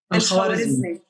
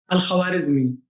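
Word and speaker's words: الخوارزمي: Al-Khwarizmi. Say it again. Al-Khwarizmi.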